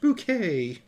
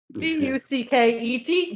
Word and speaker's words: bouquet: No, the bouquet is since. Pronounced bouquet. Poor man. Bucket.